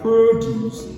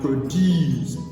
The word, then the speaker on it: produce: So we have produce as a noun, stress on the first syllable, and produce as a verb, stress on the second syllable.